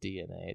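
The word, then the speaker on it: DeNA: franchises in its DNA why it's de na yeah that's pronounced DNA just says just so we're not saying Dina's DNA excuse me has previously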